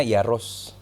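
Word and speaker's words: Jaroš: Iya, bacanya Jaros. Jaros, ya.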